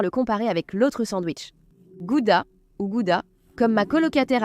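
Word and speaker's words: Gouda: Elle a vécu un petit moment au Pays-Bas et elle disait "En fait ça se prononce Goudha.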